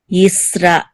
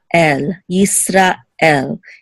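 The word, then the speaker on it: ישראל: And you also find it in the word Israel. In Hebrew, it's Yisrael, Yisrael. It's almost as if it's two separate words, Yisra and El, Yisrael.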